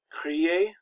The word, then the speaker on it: crier: Verbs that end in ier, that's pronounced ye, often become just the letter y. Crier, which means, this is